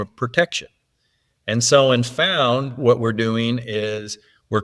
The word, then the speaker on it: Phound: And the reason we called it Phound, and Phound is spelt with a PH, so it's kind of like the mixture of phone and found, is, the days of